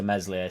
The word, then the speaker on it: Meslier: he has to do to meslier silent s for him not to be